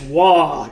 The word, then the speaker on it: Waaagh: in england i got quite a few it's wah you know it's uh so i will say